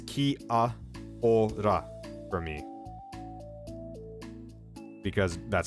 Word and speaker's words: Kia ora: I'm gonna guess I pronounced that wrong because my brain wanted to pronounce that as Japanese. Kia ora. You're the one who say Kia oral.